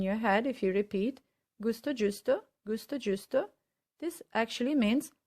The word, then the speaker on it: gusto: is gallo jallo and the other one is gusto giusto as you can see they're pretty much